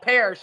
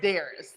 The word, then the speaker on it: Darius: gonna hear you oh keep calling him paris y'all his name is darius yeah paris dears i